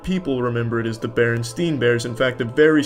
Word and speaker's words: Berenstain: It's always been Berenstain, not Berenstein. They all want to pronounce it Steen, but it's Stain.